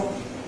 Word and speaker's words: of: Likewise, strong form ‘of’ /ɒv/, weak form ‘of’ /əv/.